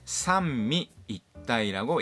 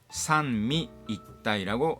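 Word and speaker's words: 三位一体: 그리고 삼위일체를 삼미이타이라고 읽습니다. 상이가 아닙니다. 마미무메모에 미, 산미이타이라고 합니다.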